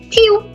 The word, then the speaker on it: tu: Tu. So there are two rules. Last letter silent and the U sounds like ew.